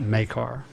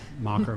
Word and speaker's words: Makar: So this is Makar, not Mocker, Macker, or whatever.